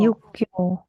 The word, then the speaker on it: 육교: 육고, 육교, 육교, Yukyo, 맞아요. Yang ini dibacanya K ya.